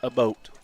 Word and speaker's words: Abbott: It's not Abbott. Sorry. It's pronounced a boat.